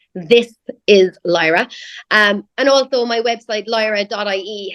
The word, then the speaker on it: This Is Lyra: I know I'm really bad at pronouncing my THs, but it's This Is Lyra.